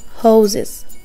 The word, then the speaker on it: hoses: ولكن firefighters put out fires يخمدوا الحرائق and use hoses دي الرموز الصوتية لكلمة hose يعني خرطوم جمعها hoses هنا الاس تنطق z hose hose so again scientists do experiments scientists use flasks Firefighters put out fires.